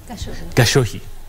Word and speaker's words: Gachuhi: Gachuhi. Let me tell you one thing before even we continue.